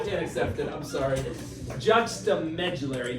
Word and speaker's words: Juxtamedullary: Juxtamedullary, not.